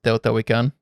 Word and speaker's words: Teotihuacan: ruins in Mexico, and I think it's pronounced Teotihuacan, with the sun and moon temples and stuff. Yes, I am willing to confirm that is the proper pronunciation, as I am an expert on these matters.